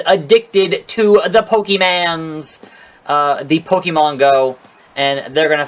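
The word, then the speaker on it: Pokémon: The Pokemon Go.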